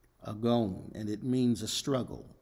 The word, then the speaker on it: agon: what great conflict and in the greek the word is pronounced agon agon and it means a